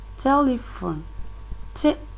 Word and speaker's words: telephone: let me read them telephone different the stresses on that that is at the first syllable imperial imperial that the